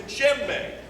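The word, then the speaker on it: djembe: a drum called the jembe look at how JBE is spelled looks like a g a J in the beginning but it's really a d a JBE is is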